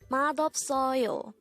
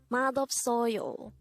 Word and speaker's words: 맛없어요: syllable is o and fourth syllable is you pronounce it with me madop soyo mad of soyo the term madopsoro used to say not tasty